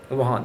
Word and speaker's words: Wuhan: It's Wuhan, right? Wuhan, the Chinese pronunciation.